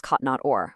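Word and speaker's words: כתנות עור: a garment of light, in Hebrew kotnot or, spelled with the letter aleph. But afterwards, the text says God made him garments of skin, which is also pronounced kotnot or, but spelled with a different letter, ayin.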